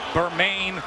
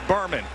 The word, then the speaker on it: Bermane: Stiver has heard his first name pronounced every which way. Burmain Bmani. It's Burman.